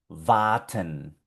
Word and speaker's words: warten: Aquí tenemos el verbo warten.